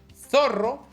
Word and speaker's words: zorro: The English TH sounds very similar to the Spanish theta. So, zorro sounds exactly like that, or thumb.